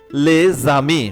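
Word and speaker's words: les amis: সেটা দেখি অবলিগাতক বাধ্যতামূলক প্রথমে আর্টিকেল প্লাস নাউন থাকলে আক্তিক প্লাস নাউন থাকলে যেমন লেজামি মানে বন্ধুরা লে জামি বন্ধুরা লে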